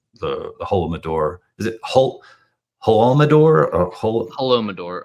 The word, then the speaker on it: Holodomor: now I don't know if I'm gonna be able to pronounce that at all. I think you Yeah, just ruined my brain. Holodomor. That's it. Holodomor.